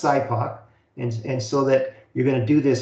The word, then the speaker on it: SIPOC: It's pronounced SIPOC.